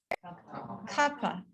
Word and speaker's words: kapha: Next word, kapha.